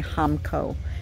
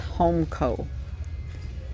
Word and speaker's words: Hamco: guys are cute homeco i always get corrected when i say hamco it's homeco even though it's spelled hamco it's spelled homko if they wanted it to be homeco why didn't they put the e in there we just found